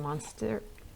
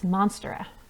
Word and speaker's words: Monstera: going to be a monster monstera monstera okay it's monstera which is good that's that's how it's spelled big pretty leaves those